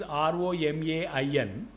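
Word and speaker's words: Romain: Vivekananda and Mahatma Gandhi his spelling is r-o-m-a-i-n pronounced as Roma okay okay like Metro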